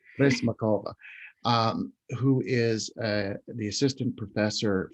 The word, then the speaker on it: Prysmakova: I don't know why I'm having trouble with that extra syllable I'm putting in there. Say Prysmakova. Makova, Prysmakova, who is the assistant